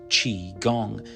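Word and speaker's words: Qigong: Chi Gong, pronounced Chi Gong, means life energy cultivation.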